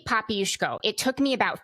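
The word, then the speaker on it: Popiełuszko: How do you pronounce the name? Jerzy Papiuszko.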